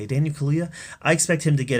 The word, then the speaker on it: Kaluuya: In fact, I expect Daniel Kaluuya. I think that's how you say it, Daniel Kaluuya.